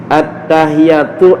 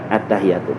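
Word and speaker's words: التحيات: Jadi at-tahiyat. At-tahi di atas ta. Jadi bacanya at-ta. At-tahi. Jadi dibaca di atas tak sablunya. Ini harus perhatiin nih. Jadi at-tahi. Jangan at-tahiyatu. Salah.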